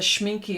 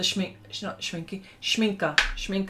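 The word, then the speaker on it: Schmincke: And you like, the Schminky are gorgeous too. The Schminker. I've got to say it right.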